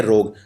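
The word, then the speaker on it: rogue: ROG नहीं है, ROG के बाद U और E भी आते हैं, इसे बोलते हैं रोग। हाँ, लेकिन बोलने में U और E का उच्चारण नहीं होता, इसलिए कंफ्यूजन हो जाती है।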